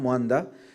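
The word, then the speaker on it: Mwandha: Also with us is Sam Mwanda. You notice I added Mwanda. That's how it should be pronounced.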